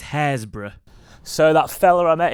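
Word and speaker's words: Happisburgh: I just arrived in the correct way of saying it is hazra so that fell I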